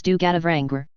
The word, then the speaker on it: Du Gadavrangr: In the ancient language, it should be spoken as Du Gadavrangr, this is the proper way to say it.